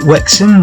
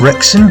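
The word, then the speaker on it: Wexham: of this commentary uh we head into wexen which uh people do like to pronounce wrexham but i assure you wrexham is in north wales works and it's just outside slough and i suppose there's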